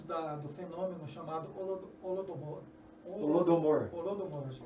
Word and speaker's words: Holodomor: Holodomor, acho que é assim. Isso. Holodomor. Como é que é a pronúncia? Holodomor. Holodomor.